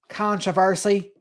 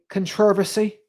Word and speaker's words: controversy: Americans are like controversy. In England, they say controversy can access.